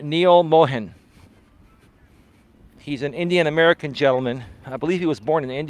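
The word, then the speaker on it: Neal Mohan: were not being targeted properly how do you pronounce the new CEO's name Neil Mohan he's an indian-american gentleman I believe he was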